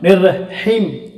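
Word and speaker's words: الرَّحِيم: Long லெட்டராக வரும்பொழுது இந்த ஈயும் சொல்லிட்டோம்னா நிர்ரஹீம் ஹிம்னு வரக்கூடாது. அதனால் இந்த யா உச்சரிக்காமல் இதை நீட்டி சொல்லிடணும், நிர்ரஹீம்.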